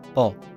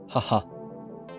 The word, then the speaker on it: 母: Today's kanji is mother, pronounced bo, haha.